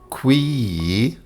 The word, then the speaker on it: qui: classical latin word is qui meaning which and the ee is long with a rising and falling tone it is the we